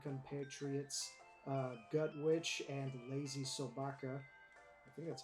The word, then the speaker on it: LazySobaka: artists and DND compatriots uh gut witch and lazy soaka I think that's how you pronounce that that is how you pronounce it